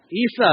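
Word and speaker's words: عيسى: my Arabic speakers what how do you say Jesus in uh Isa that's how you say Jesus in in Arabic right what a coincidence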